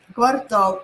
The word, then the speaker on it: квартал: вы не скажете это вдали квартал или квартал а вот в этом слове а возникает всегда ошибки первый слог или второй слог посмотрите пожалуйста первый слог или 2 ствол напишите пожалуйста 1 или 2 так квартал это будет второй school хорошо идем дальше киллометр